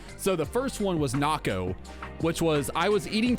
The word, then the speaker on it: Nako: So it's N-A-K-O, Naco is how I pronounce it. And then everyone else pronounced it Nako because, you know, like a Mako shark, but you know, it is what it is.